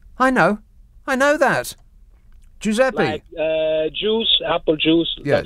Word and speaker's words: Giuseppe: my help and assistance in brackets it's got pronounced jew sep e yeah i know i know that giuseppe uh juice apple juice yeah stuff there and